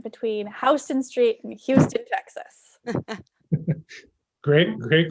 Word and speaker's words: Houston: The Houston of New York fame was a local politician who pronounced his name that way. And so Better Houston. Better. So we learn better Houston, right?